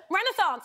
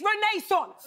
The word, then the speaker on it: Renaissance: Okay, it's not Renaissance, it's Renaissance, okay?